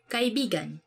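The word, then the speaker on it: kaibigan: kai bigan meaning friend let me say something about this word because like you have to say it like this kai bigan because kai because means friend but when you twist it a bit and say it like this that's kind of it's not really a natural way of saying it but it actually means lover so like when you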